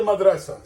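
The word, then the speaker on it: مدرسة: Ta marbuta. You don't pronounce in the end. You make it as a.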